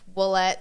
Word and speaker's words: Ouellette: been very enlightening for me with Emma oette olette olette olette olette like I said it's supposed to be pronounced wette but I told you I don't nobody does